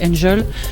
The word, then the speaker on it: NGL: J'ai transformé ça en NGL. On peut prononcer donc Angel.